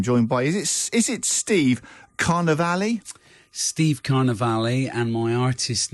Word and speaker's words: Carnivali: So Carnival with an I on the end. So Carnivali.